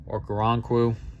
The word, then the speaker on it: Okoronkwo: Okoronkwo.